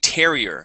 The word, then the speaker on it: terrier: a breed of dog it is a Terrier with the stress at the very beginning uhuh just like that